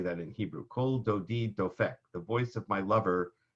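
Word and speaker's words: קול דודי דופק: Delphic is how you say that in Hebrew cold o deed though feck the voice of my lover knocks that became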